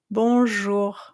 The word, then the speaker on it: bonjour: So now instead of saying you can say bonjour. Okay. Actually you have the sound in English too with garage for example or the color beige.